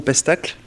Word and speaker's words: Pestacle: On se trouve au Pestacle. Je l'ai bien prononcé, oui.